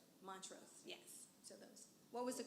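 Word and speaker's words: Montrose: Montro. Montros.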